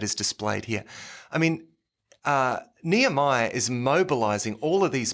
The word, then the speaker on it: Nehemiah: And we're going to pronounce, I've heard Nehemiah pronounced many different ways. Oh, okay. I think I've got some dear Indian brethren who pronounce it Nehemiah. Goodness me. Yeah. Okay, yeah. Well, and I've heard it different ways, but Nehemiah is well, that's just how how it's normally pronounced.